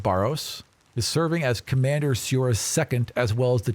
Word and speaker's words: Siora: Commander Soria. Siora. S-I-O-R-A. Actually, Siora. It's Siora. yeah, I'm mispronouncing my own Okay.